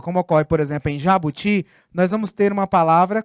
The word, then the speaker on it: jabuti: Em jabuti, a sílaba tônica é o ti. Ela é uma oxítona e ela não está acentuada.